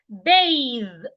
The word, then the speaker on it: bathe: outside bath we have bathe bathe so b a t h is not pronounced the same way as you will pronounce b a t e b a t h is rightly pronounced bath b a t